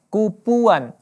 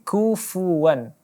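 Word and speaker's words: كُفُوًا: anginnya ke saku v-one kufuwan tidak dibaca kupuan yakni lebih Salah lagi tapi kufuwan huruf Kaf adanya dan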